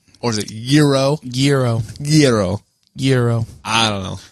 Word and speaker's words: gyro: Is that the proper pronunciation, or is it gyro? Gyro. I don't know. Like saying like gyro, but like saying it quick enough that it sounds like euro. So gyro.